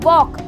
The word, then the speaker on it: walk: से पहले L आया है, L हो जाएगा साइलेंट और इसे हम पढ़ेंगे काम, CAM। ठीक है, ऐसे ही दूसरा देखो वॉक, यहाँ पर WALK, यानी कि K से पहले